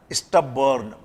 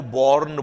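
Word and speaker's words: stubborn: ये वही शब्द आया स्टबर्न। पहले प्रोनाउंसिएशन देखिए, लोग BORN को बॉर्न बोल देते हैं, तो इट इज नॉट बॉर्न, इट इज स्टबर्न, clear है।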